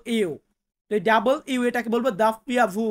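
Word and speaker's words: doppia vu: পিয়াভু আমরা ডাব্লিউ বলি বা ডাবল ইউ সঠিক উচ্চারণটা হবে ডাবল ইউ ডাবল ইউ এটাকে বলবো দাপ্পিয়া ভু বা দাপ্পিয়া তারপর আছে এক্স যেটাকে আমরা এক্স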